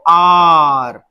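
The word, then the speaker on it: hour: अब यहां पे देखिए शुरू ये कॉन्सोनेंट से हो रहा है एच, पर एच को प्रोनाउंस नहीं करते, बोलते किसको, इसको आर।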